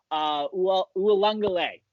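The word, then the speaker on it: Uiagalelei: John Bosco backup quarterback in DJ Ualungale. That's how you pronounce. That's how you pronounce his name.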